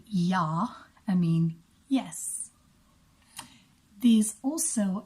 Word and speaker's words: ja: this wonderful so basically there's a word in German called yaw yaw means yes and it spelled j8 because we pronounce the J as a Y and Afrikaans is exactly